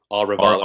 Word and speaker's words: Arevalo: I I I haven't heard phonetically how to pronounce the last name uh aralo that's fine aralo aralo yeah okay there we go so Matt